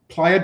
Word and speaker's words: playa: I said playa. Well, it's a strange word, right? Playa, because people think player.